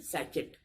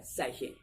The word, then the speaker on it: sachet: SACHET होता है, और उसको लोग स्पेलिंग को देख के पढ़ते हैं तो इससे क्या हम पढ़ देते हैं सैचेट, जो कि गलत है। इसकी एग्जैक्ट प्रोनाउंसिएशन क्या है? सैशे।